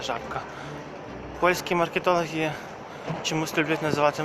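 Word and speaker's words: Żabka: вашу увагу на жабку жабка такі читається жабка польський маркетологи чомусь люблять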